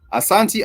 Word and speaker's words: Asante: Asante actually sounds like Ashanti, but Ashanti, these are the West African people.